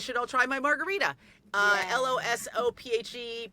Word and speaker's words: Losophe: LOSOPHE, pronounced like philosophy.